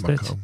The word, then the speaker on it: Bamako: Is that how you pronounce Bamako.